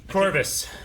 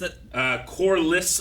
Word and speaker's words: Corlys: I believe Coitus is the exact way you say it. Is that how you say it? It's something like that. Corvus. Corvus? Corlys Velaryon.